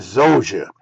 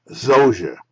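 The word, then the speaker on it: Djoser: r 2600 BC and zoa that's how we pronounce it the D and the J we call it Z Zer and motet designed and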